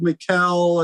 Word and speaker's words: Mikel: I know it gets a little confusing, but I'm mostly called Mikel at this point.